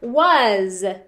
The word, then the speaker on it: was: Was. So was, z, it has that z sound at the end. Sometimes the S can be confusing on the end because of that.